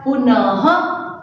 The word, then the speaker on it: पुनः: प्रातः यानी कि सुबह, नमः यानी कि नमस्कार, पुनः ह उच्चारण करना है इसका।